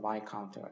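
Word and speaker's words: viscount: S가 묵음이어서 바이카운트가 되고 남작은 베론.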